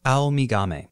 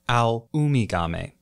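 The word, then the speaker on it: アオウミガメ: sea turtles Japanese name I called it all me gummy and I was focused on the owl part of that I got that right I swallowed a syllable in there though the correct name for this species is actually a luma gommi I sincerely apologize so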